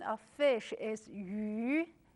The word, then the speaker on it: 鱼: The pronunciation of fish is 鱼.